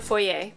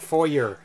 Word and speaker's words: foyer: foyer anyway yes uh pronounce it correctly the fourier fourier the fourier not for your not for your it's